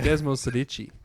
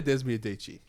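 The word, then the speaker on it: Desmosedici: Desmo Sedici. It actually has an S in it.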